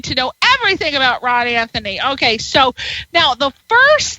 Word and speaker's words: Anthoni: It is spelled R-A-H-N, R-A-H-N, and it's not spelled like Anthony either. It's A-N-T-H-O-N-I.